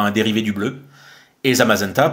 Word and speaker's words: Zamazenta: dérivé du bleu et zamazenta pour mazenta comme magenta le dérivé du rose